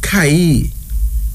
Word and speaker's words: Kai: in kiswahili and finally Kai k-a-i pronounced as Kai it's a female name